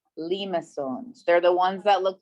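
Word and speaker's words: limaçon: we are going to talk about lima songs that's how you say it limassons they're the ones that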